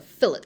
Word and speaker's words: fillet: Yeah, I know that's a weird pronunciation, but it's a fillet in engineering.